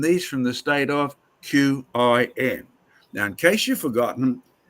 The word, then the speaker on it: Qin: from the state of Qin. Now, in case you've forgotten, from the state of Chin, pronounced Chin, from which we get Chinese.